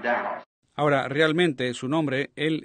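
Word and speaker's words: Daugh: Not really in his name, he's a German, D-A-U-G-H, and I pronounce it Dow.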